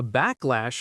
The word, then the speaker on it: backlash: It's a compound word. Backlash. Backlash. The stress is clearly on the first syllable.